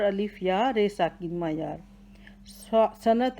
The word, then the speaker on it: صنعت: یا، رے ساکن، معیار۔ صنعت ہے، صاد کے اوپر زبر ہے، نون ساکن ہے، عین کے اوپر زبر ہے، تے ساکن ہے۔ صاد زبر سا، صاد زبر نون سن، عین زبر تے ات، صنعت۔ مثال، میم کے نیچے